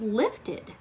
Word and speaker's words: lifted: how many syllables are the word lifted let's try lift head left head there's two when we add suffix